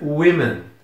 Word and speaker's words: women: a pronúncia da palavra quanto no singular nós pronunciamos Woman No plural nós vamos pronunciar Women í é bem estranho porque o que mudou foi esse essa letra e aqui antes estava o a aqui tava e e a sílaba Inicial não mudou nada né então Teoricamente não